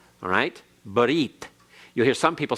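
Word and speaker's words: ברית: for example the Hebrew word for covenant is but eat alright but eat you'll hear some people say ber if that's an anglicized pronunciation that is incorrect Hebrew alright and the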